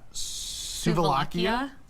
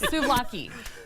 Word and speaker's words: souvlaki: This is Slovakia. Very close. Oh, Slovakia? Further away. Souvlaki.